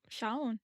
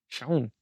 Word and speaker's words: Shaun: you pronounce Right? it. That's Yeah. what I thought. Shaun. Sean.